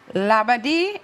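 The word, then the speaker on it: Labadee: And last question, labadi.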